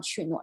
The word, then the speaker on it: 怯懦: And the next one, 怯懦, it's not 去. I heard so many native speakers, pronounce it wrong, 怯懦, 怯懦, timid.